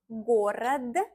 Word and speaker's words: город: Город, город, город, город, город. It's easier to pronounce to the end of the word.